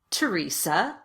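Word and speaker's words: Theresa: The most common exceptions are words that are spelled with TH, but pronounced as t, or the T sound. Let's go through them together. Repeat after me. Thomas. Teresa.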